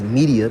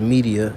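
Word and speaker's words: Medea: in a hypnosis you know by this man's media because the word media goes back to the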